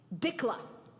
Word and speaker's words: Dikla: Dikla is how it's pronounced in the United States.